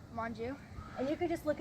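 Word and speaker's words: Monge: and how do you say your last name Manju and you could just look at me awful this don't worry but how do you son one more time your last name Manju and you're 11 years old and what grade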